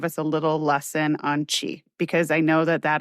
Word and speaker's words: qi: eastern practices to understand chi Soq chi is sometimes I in my book I spell it qi. Sometimes you'll see it spelled ch hi.